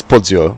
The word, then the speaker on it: Porzio: it's car 296 Giovanni Porzio. I wonder, is that even how you say it? It is Porzio, because it's for me it's Italian, so it should be Porzio, like pizza, like Porzio.